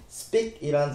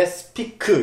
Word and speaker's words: speak: 발음하실 때 speak 이렇게 콩글리시처럼 말씀하지 마시고 중간에 강세를 주고 살짝 길게 끌어서 speak, speak 이라고 말씀해 주세요. 또 끝을 크라고 정확하게 발음하는 게 아니라 크만 살짝 붙여서 speak, speak 라고 얘기하면 된다는 거 꼭 좀 기억해 주세요.